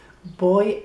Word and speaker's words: voy: I go is voy it is spelled with a V voy a =I go to they tend to say v as a b voy a Rhonda, voy a